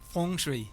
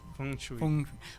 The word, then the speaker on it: Feng Shui: ¿Cómo se pronuncia, perdón? Feng Shui. Feng Shui.